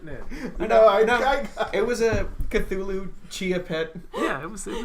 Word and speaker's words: Cthulhu: How do you pronounce that Cthulhu. word? Go That. for it. Well, Tom would know better. Is it Cthulhu? Good job. Yeah. Yeah. Cthulhu. I think it's I'm Cthulhu. still gonna say Chichulu.